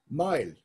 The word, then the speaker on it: Mael: Mael, M-A-E-L in Old Irish, M-A-O-L in Modern Irish, same pronunciation, originally meant shaved.